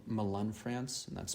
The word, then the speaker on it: Melun: And then after that, I went to a place called Melun, France, and that's spelled Melun, not to confuse it with Milan,